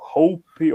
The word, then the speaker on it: Hoppe: a pronúncia em alemão porque acho que o roupa ele tem pronúncia em alemão e norueguesa Mas tipo é muito parecido é tipo Hope ou roupa mesmo o Asus variações Hope também então é aceitável e é dentro de uma margem de erro para de